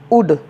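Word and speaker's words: would: ड आपका है डब्लू ओ यू एल डी उड तो कुछ इस नियम के अपवाद भी शब्द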